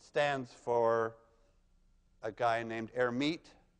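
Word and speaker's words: Hermite: for a guy named herit who didn't actually pronounce the h but let's pronounce it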